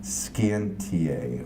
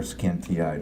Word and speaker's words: scientiae: We'd say hoc plus artis quam scientiae, or scientiae, depending on who your Latin teacher was.